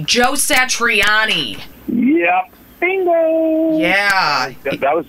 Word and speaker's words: Satriani: uh with and i don't know if i'm pronouncing his name correctly joe satriani yep bingo yeah that was just a luck